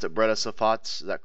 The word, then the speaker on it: Breda Safat: Was it how you pronounce it? Breda Safats, is that correct?